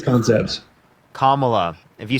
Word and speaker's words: Kamala: What's Camilla's concepts? Kamala. If you say her name wrong one more Kam- time, I'm going to kick you from my stream.